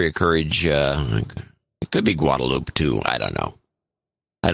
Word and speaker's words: Guadalupe: No, we don't pronounce the E. Guadalupe. In San Jose, it's pronounced Guadalupe.